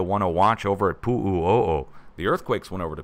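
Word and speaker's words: Puʻuʻōʻō: leading me to want to watch over at Pu'u'o'o. The earthquakes went over to Pu'u'o'o, but as far as I know, nothing else happened over at Pu'u'o'o, which is spelled P-U-U-O-O, in case you're wondering.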